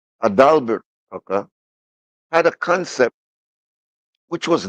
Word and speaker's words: Adalbert: I don't want to mispronounce his name. Not Albert Tucker, but Adalbert Tucker had a concept which was not his own.